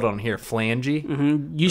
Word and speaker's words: phalange: Phalange definition: the Spanish fascist movement. Oh yeah, it's Phalange. Phalange. Okay, phalanges. Let me pull that one up real quick. The PH is silent.